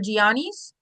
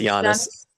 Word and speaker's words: Giannis: Asks OG and Cat for Gianis. Is that not right? No, it's Jiannis.